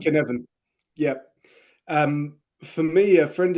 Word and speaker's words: Cynefin: is Welsh, but think of it a K. I know. Yeah, Cynefin. Cynefin.